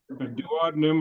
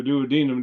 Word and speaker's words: duodenum: too far in well that goes through the duodenum or the duodenum depending on how you pronounce that then yeah that's where